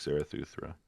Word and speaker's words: Zarathustra: I went for the pronunciation. I fucked it up, but I think you just nailed it. Yeah. Thus spoke Zarathustra. Yeah. Got the stra in there.